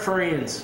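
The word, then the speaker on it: Ferentz: I might get his name wrong, but the University of Iowa, Kirk, how you say it, Zack? Kirk Friends.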